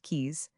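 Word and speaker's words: Caius: Gonville and Kais College commonly called Kais pronounced keys stands mainly on the west side of Trinity Street.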